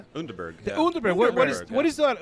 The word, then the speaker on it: Underberg: Unberg.